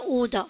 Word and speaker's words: order: what color should I order 확실하게 브리티시네. What color should I order for the... 오케이, 우리는요 order 합니까? order 합니까? order 중간에는 R 발음 절대 하지 않네요.